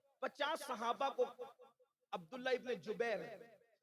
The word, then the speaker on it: جبیر: صحابہ کو عبداللہ ابن جبیر، زبیر نہیں بلکہ جبیر، جیم سے جبیر، تھوڑا سا آج کل